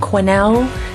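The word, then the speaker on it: Quesnel: town optional stop is the town of Cornell the S is silent and in Cornell you'll also find some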